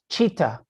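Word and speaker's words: citta: uses uh that's uh c-i-t-t-a and the c is spelled like a ch like a ch cheetah and when he's talking about training the mind he says you know cheetah developing a compassionate mind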